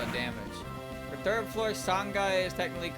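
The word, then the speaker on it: 三階: But then sanghai becomes sanai because it does.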